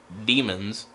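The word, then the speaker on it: Daemons: I mean, I know demons, D-A-E-M-O-N-S, is demons. It's not demons.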